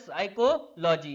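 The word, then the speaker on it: psychology: जैसे साइकोलॉजी होता है। साइकोलॉजी की स्पेलिंग क्या होती है? पी एस। बाई सी एच ओ एल ओ साइकोलॉजी बाई तो देखो अगर इसको बोलेंगे तो वैसे तो इसको बोलने के लिए क्या बोलते हैं साइकोलॉजी अगर हम इसे बोलेंगे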